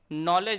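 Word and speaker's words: knowledge: जैसे यहाँ पर साइकोलॉजी में पी यहाँ पर साइलेंट है, डॉट में आपका बी है। इसी प्रकार से नॉलेज में डी जो शब्द है वह साइलेंट है, परंतु कैटल में कोई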